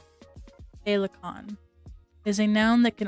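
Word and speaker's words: féileacán: Felt like it is Irish for the word butterfly, pronounced phalicon or phalicon.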